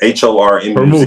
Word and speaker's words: Hormuz: So right now, the Strait of Hormuz, I'm not going to say Hormuz, but H-O-R-M-U-Z. Hormuz. Strait of Hormuz. You said it right.